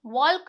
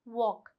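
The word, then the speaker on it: walk: डब्ल्यू ए एल के वॉक। वॉल्क नहीं कहलाएगा वॉक।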